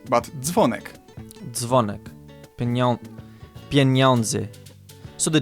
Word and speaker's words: dzwonek: It's not dzwonek, but dzwonek.